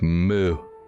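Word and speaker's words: Moue: I could spell differently I think it's spelled m-o-u-e but it's pronounced moo thanks there's not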